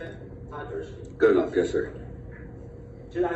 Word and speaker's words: Podgurski: Okay, Detective Podgurski, is that how you say it? Podgurski.